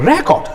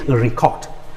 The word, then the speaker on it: record: refuse it then the record this is my record and now but when it shifts to the second syllable it becomes please record record all that i'm saying